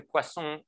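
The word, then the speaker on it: Poisson: at how to say Pon in English it's a French word and I stick to the French word uh to the French pronunciation so i s to Pon process a Pon process has properties that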